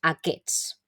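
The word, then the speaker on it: aquests: de difícil pronunciación y esta s de aquí realmente no la pronun decíamos No porque aqu no es un poco complicado Entonces sí que diríamos aqus significa estos y como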